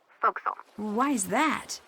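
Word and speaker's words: forecastle: ship but it's pronounced foxel why is that try pronouncing it like an english sailor with no formal education faux castle voxel over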